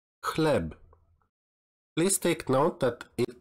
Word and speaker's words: chleb: You should pronounce it as ha, ha, like chleb, chleb.